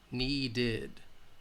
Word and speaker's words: needed: called cleaned loved and if the final sound ends with either T or D then it's going to have the ED sound wanted needed waited blended and did okay so